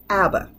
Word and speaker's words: ABBA: And when we put them together as an acronym and it's pronounced as a new word, that's the important part.